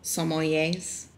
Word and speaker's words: sommelier: You know how wine connoisseurs are called sommeliers?